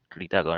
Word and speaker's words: Ritacco: Esta es la primera edición de los seminarios que estamos organizando y nuestro invitado es Ritaco, que no, se pronuncia así, Ritaco, ¿no?